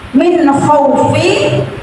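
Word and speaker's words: مِنْ خَوْفٍ: yang diawali huruf fathah contohnya Min khaufi dibacanya Min khauf tetapi harus dibaca panjang lebih panjang tidak Min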